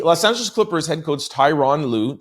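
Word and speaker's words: Tyronn Lue: The Los Angeles Clippers head coach Tyron Louu, that's how you pronounce it, Tyron Louu, uh, has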